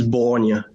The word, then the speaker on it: Borgne: In French, it's Borgne. Borgne. English person, I always say Borgne or Borgne.